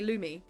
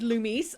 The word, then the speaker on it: Loomis: Do you hear the S in Loomis? Well, so if I was pronouncing that just as reading it, I would say Lumi.